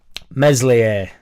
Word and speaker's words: Meslier: trust in the Prem meslier silent s angry madgav loves Sam